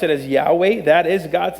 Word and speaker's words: Yahweh: or four letters y h w uh we pronounce it as Yahweh that is God's name this is an attribute